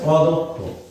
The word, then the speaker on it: অদক্ষ: সাধারণত এই দ উচ্চারণ করতে ঠোঁটটা গোলাকৃতি হয় এবং এই ক্ষীয় যদি শব্দের শেষে থাকে তাহলে তার উচ্চারণ হয় ক এবং খ এর মতো।